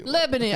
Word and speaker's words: Lebanon: how do you say your city Lebanon Lebanon yeah like the country Lebanon okay did you grow